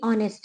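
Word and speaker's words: honest: इसको ऑनर ये अभी ऑनेस्ट है तो हम ऑनेस्ट को ये नेस्ट नहीं बोलते और ना ऑनर को हम नेस्ट हनर बोलते हैं क्योंकि वो गलत है उसमें एच साइलेंट अभी यह ऑनेस्ट है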